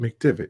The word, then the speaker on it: McDevitt: McDevitt.